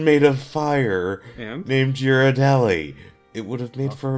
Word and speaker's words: Ghirardelli: How is this pronounced? Ghirardelli. Yeah, I wasn't smart enough to figure it out.